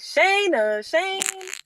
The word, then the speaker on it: Shana Shayne: People say Shana Shayne.